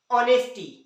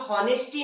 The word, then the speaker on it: honesty: जैसे देखिए ऑनेस्टी, है ना। इसे हम लोग हॉनेस्टी नहीं पढ़ते, क्या पढ़ते हैं, ऑनेस्टी पढ़ते हैं। स्पेलिंग चालू होती है HONESTY, लेकिन पढ़ते ऑनेस्टी है।